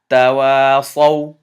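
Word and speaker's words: تواصوا: And remember, this alif has a 0 on it or a sifr on it. It gets cancelled, so you do not pronounce this one. The word is tawasaw.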